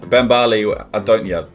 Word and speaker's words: Bambale: Bambale, that's how you pronounce it.